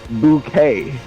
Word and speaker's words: Bucket: can like i said her last name was bucket right like b-u-c-k-e-t yeah but she pronounces it bouquet everybody who says the name she's like it's bouquet and they're like yeah